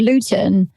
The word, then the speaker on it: Luton: Is that spelled like Luetin? Luton.